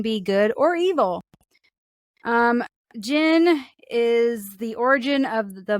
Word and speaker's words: djinn: know jeez alrighty Rue we are going to talk about gin not Jens or jdubs it's Jin how do you spell